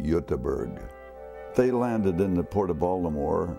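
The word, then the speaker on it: Göteborg: on the west side where Gothenburg is or they call it yutaberg they landed in the Port of Baltimore about 1875.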